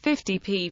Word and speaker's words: 50p: The symbol for the penny is p, hence an amount such as 50p, properly pronounced 50 pence, is more colloquially, quite often, pronounced 50p, FFTI, pi.